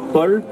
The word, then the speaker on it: Paol: Donc en breton, on l'écrit alors, merci, voilà, P-A-O-L. Donc on le prononce Paul.